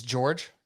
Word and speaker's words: Georges: I think the thing with, and the S is silent in George, by the way. It's not popularly known because you don't hear his name out loud much. But I don't know why it's spelled with an S. It's not Georges, it's George. It's just George.